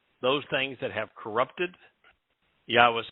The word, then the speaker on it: Yahweh: to corrupt that message that yahweh's name is pronounced yahweh and it is essential then he will strike